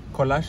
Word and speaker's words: Kolash: Kolash, it's 2 syllables.